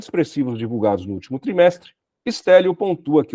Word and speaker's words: Stélio: Teu nome se pronuncia assim mesmo, Stélio?